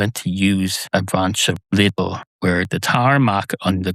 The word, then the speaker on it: Lidl: Lidl is pronounced differently in different countries, I understand. Some people pronounce it legal. Some people pretend there's an extra vowel in there, as there should be. It's spelled Lidl. Lidl. That's not a word in this country. Some people pretend it is, so they say it's Lidl.